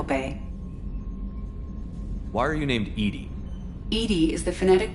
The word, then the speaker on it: EDI: behind the medical Bay why are you named Edie Ed is the phonetic pronunciation of Eed d I that is an